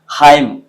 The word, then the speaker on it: hymn: Haim, solemn, column, condemn, autumn. तो आपने ध्यान दिया that if I pronounce these words, I don't pronounce that न.